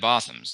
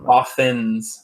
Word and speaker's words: Bothans: It's Bothans, not M. Bothans. Bothans. N is in net. You're saying Bothams.